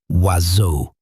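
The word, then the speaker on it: oiseaux: birds written asu uses seven letters and not a single one of them is pronounced in the way an English speaker would predict. The word is pronounced roughly wazu.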